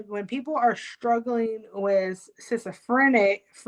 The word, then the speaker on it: schizophrenia: So this is how you know when people are struggling with schizophrenia.